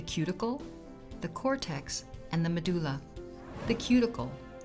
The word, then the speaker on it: medulla: The medulla, pronounced medulla.